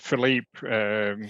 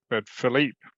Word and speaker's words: Philippe: And Philippe, stress the second syllable, not Philip, but Philippe.